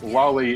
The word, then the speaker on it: loli: For the record, Ozzy, lolly is the proper way to pronounce that word according to the Japanese pronunciation.